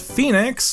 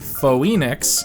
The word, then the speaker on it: Phoenix: Sam corrects Kat that the city is pronounced Phoenix, not Phoenix, but Kat doesn't care,